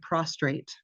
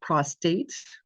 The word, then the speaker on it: prostate: people will say there's men will say there's something wrong with my prostrate it's prostate word letters count in healthcare or my creatin is